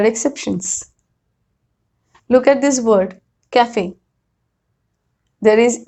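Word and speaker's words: café: Look at this word, cafe. There is E at the end, but I am pronouncing it. I am saying cafe. But the reason is this word has come from French.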